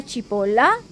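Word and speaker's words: cipolla: अगला शब्द है सिपोला। आप भी इसे दोहराएं। सिपोला का अर्थ है प्याज। ध्यान रहे, इस शब्द का उच्चारण सिपोला के समान होता है।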